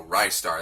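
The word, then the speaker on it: Ristar: pronounce that this game a lot of people will disagree on how to pronounce that there's no official pronunciation but I like rice dark and I mean on the back it says catch a rising star so rice star it seems logical anyway this is a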